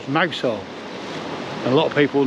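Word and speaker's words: Mousehole: Now it's actually called Mousel. And a lot of people know it as that, but it's pronounced down here mousel on account of the little hole here, which I'll show you.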